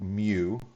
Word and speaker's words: mu: on it right here um and this is pronounced like mu and this is a sigma right here that